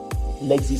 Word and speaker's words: LXD: L'XD, ça s'écrit LXD, mais ça se prononce l'XD.